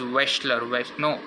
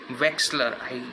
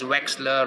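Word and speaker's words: Wechsler: kept forgetting it and started pronouncing it as Western I mean it is westler Wexler yeah it's West come on man seriously okay I'm gonna pronounce it as Wexler you can check the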